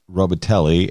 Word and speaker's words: Robitaille: Although this guy, James Robitaille, and it's spelled Robitaille with a French pronunciation, right, is Brianna's on-again, off-again boyfriend.